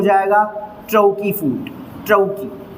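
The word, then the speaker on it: trochee: टी से हो जाएगा ट्रौकी फूड, ट्रौकी, प्रोनाउंसिएशन भी ध्यान रखिएगा ना, ट्रौकी फूड।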